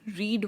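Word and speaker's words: read: किया है, लेकिन इसकी स्पेलिंग रीड वाली ही होती है। Like रीड, रेड, रेड। Second form भी रेड होती है, थर्ड फॉर्म भी रेड होती है। हम जस्ट उसे प्रोनाउंस डिफरेंटली करते हैं, बट स्पेलिंग सेम लिखते हैं इन तीनों की।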